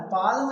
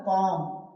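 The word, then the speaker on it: palm: पालम नहीं बोलना है। क्या बोलना है? पाम। पाम एम से पहले एल साइलेंट आता है ना?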